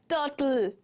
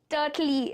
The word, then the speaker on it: turtle: Maple, turtle, and purple. L is getting stressed, not E. Purpley, turtley.